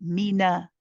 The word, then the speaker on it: من: Yes, just be careful, Pupuji, when you say the min part, you need to make the kasra on the mim, mi, and then the fatha on the noon, mina, mina.